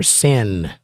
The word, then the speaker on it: Seine: And sadly enough, they had the pale horse riding down the river Seine. That's how you pronounce it.